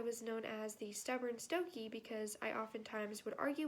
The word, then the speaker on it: Stokoe: My last name looks a little weird, but it's pronounced Stokoe.